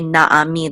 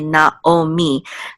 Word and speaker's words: Naomi: They always say kol Yisrael, because for that specific word and others, like Naomi, they don't say Naami, they say Naomi.